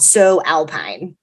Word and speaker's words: Sew Alpine: colorado-based cottage company called so alpine hannah defines the name of her one woman show by saying uh so alpine is a pun because it's spelled s-e-w she sews but she